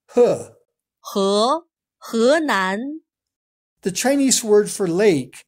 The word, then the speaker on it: 河南: 河南, 湖南. Notice that he is not pronounced as he. This Chinese word for river sounds more like he. He, 河南.